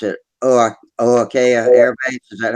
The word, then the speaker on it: Ohakea: And he says he lives near, I don't know how to pronounce, so I pronounce it Ohakea Air Base. Is that how you say it? Ohakea, Ohakea. Ohakea, they call it.